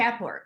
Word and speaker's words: Jaipur: Am I pronouncing that correctly? Am I saying that correctly? Jaipur.